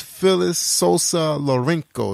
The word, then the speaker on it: Phyllis Sosa Lorenco: Who is Phyllis Sosa Lorenco? Is that correct? Yes, you actually said it right.